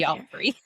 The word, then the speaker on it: Geoffrey: It's not spelled with a J, it's spelled Geo. yeah, So it's which Jeffrey. I know it's Jeffrey. I just, why is that O there? Geoffrey. Why is there an O there?